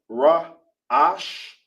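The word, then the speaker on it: ראש: In Hebrew, it's pronounced Ra Ash.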